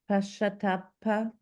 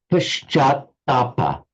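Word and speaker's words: पश्चात्ताप: Pashatapa. It's Paschatapa.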